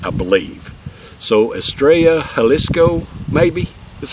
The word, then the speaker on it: Estrella Jalisco: how you proun it I believe in Spanish the double L's are are pronounced as a y and the J's are pronounced as an H I believe so estraya halisco maybe that's how you